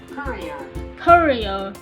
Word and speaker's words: courier: is mean a messenger aku hong song is pronounced like this korea korea c or u r i e r